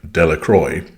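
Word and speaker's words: Dellacroix: Jones and Dicky Delroy the villagers pronounced this name Delroy eventually made a great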